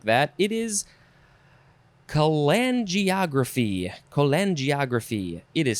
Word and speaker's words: cholangiography: It is cholangiography. Cholangiography. It is spelled cholangiography.